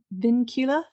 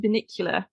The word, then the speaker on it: Vincula: Peter I'm going to say this wrong, Vincula? I always want to call it Vinicula, like the vehicle.